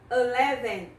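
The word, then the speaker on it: eleven: O 11 começa com a letrinha E e este E tem som de A.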